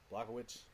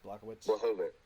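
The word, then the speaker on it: Błachowicz: Blachowicz. Blachowicz.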